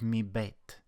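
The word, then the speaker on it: מִבֵּית: Right before the bet is this chirik, a vowel. The rule here is if the dagesh follows a vowel, it's a dagesh chazak. It's letting us know that this bet is actually a double letter.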